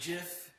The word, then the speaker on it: GIF: And actually, the guy who created the GIF came out, and I'm not said it's saying that GIF. he said that it's pronounced GIF.